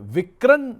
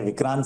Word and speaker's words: Vikran: आ रहा था कि ये विक्रण नाम क्यों है? ये विक्रम हो सकता था या ये हिंदी वाला विकरण है? नहीं यह विक्रांत है। विक्रांत सही प्रोनाउंसिएशन विक्रांत माने इनिशियली फैमिली मेंबर्स का नाम है।